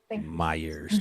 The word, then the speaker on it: Meers: you Leslie Meers and am I pronouncing your last name correctly Myers like Michael Myers did you review just